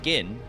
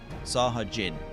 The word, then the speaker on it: Sahagin: Jin, not Gin. Jin? Sahajin or Sahagin? Sahajin. The drink.